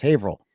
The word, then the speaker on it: Haverhill: Haverhill, it's pronounced Haverhill.